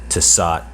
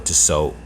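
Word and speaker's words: Tissot: Brands such as Hamilton to sot or to sew depending on how you want to pronounce it Seiko or Citizen and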